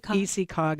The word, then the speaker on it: ECCOG: So imagine, how do you pronounce ECCOG? ECCOG is what they say.